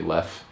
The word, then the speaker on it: Leffe: Some people pronounce it Leffe, but it's actually Leffe.